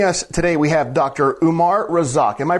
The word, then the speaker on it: Umar Razzaq: Umar Rosak. Am I pronouncing that correctly, Doc?